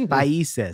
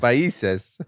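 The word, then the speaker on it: Países: There's the accento over the I. It's Paises. Paises.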